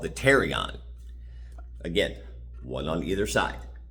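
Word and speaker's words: pterion: That's called the terrion. Again, one on either side, the terrion. It spelled with a P pt, but the P is silent.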